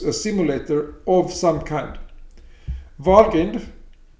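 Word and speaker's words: Valgrind: simulator of some kind walking i pronounce it like that because vol refers to valhall of nordic mythology okay walgreen it's it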